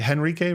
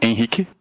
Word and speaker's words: Henrique: it Henrique, right? Do you say the H or no H? No H, but it's Enrique?